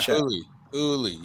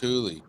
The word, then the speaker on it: Julie: Yeah, Huli. It's pronounced Huli.